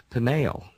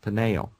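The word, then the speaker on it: Peniel: Jacob names that place Pinael, P-E-N-I-E-L, slightly different spelling, Pinael, almost identical pronunciation.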